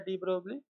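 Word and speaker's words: de Broglie: आगे साइंटिस्ट आएगा डी ब्रोगली, या उसे डी ब्रॉय कहते हैं, मगर स्पेलिंग कुछ ऐसी है।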